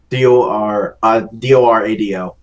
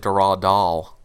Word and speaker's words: Dorado: Dorado. Oh. Doradil. Dorado. Like El Dorado. Oh. Sorry. No big deal. I thought you said Doradal.